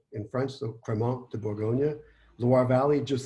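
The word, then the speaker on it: Crémant: fake it like me the T is silent so it's criminal and depending on the region so just south of champagne is burgundy which is called Bourgogne in French so Cremant de Bourgogne lawar Valley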